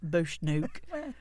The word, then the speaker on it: Bushnook: laugh if it mispronounces, Bush Nuke Farm. Did I say it right? Yeah, if you were in Lancashire, that would be brilliant. Bushnook. Okay, so I am. I'll just say that I am. It's perfect. Doesn't matter. Bushnook.